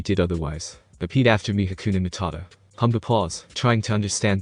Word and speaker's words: Hakuna Matata: irritation present in his tone due to Pumba's mispronunciation of the phrase, and his forcefulness to get Pumba to say it correctly. Again, Habakatat. Again, Hakuna Matata.